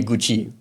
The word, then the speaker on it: Guchi: So they just called me Gucci. But they didn't spell it as Guchi. They didn't spell it as Gucci. It's Guchi. So then one day I